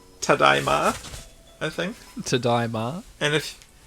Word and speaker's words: tadaima: down to your superior knowledge of how to pronounce hokatate. Right, like if you enter a house and you're like home, you say Tadaima, I think.